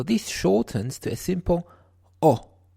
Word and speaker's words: ho: shortens to a simple o o it is written ho o but the H is not sounded like in English doesn't you would not say ho but o o in Italian o it is written ho